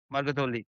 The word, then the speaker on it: Margathavalli: Margatavalli. Much better, Margathavalli. I'll pronounce that.